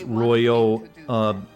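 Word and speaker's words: Royeaux: It's Royo, E-A-U as in French, pronounced O.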